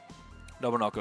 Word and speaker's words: Nobunoko: Oh, actually, shoot, I have gotten the name wrong the whole time and nobody told me. That's actually, there's a whole syllable missing. There you go. Nobunoko is the name of the person.